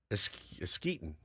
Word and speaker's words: Eskeetit: It's spelled out ESKEETIT. Eskeetin. Eskeetit. What? Eskeetit. Like Eskeetit? like let's get it, but really fast.